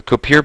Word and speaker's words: Kuiper: So the Kuiper belt is not a... Actually, I think it's pronounced Kuiper.